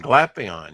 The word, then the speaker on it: Glapion: mashed up together nice oh is that uh gpon or glapion is that how you say his name uh that is Jonathan glapion you're absolutely right you are correct sir wow yeah that that